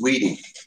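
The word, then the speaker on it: Wedi: Pronounced Weedy. It's a German product.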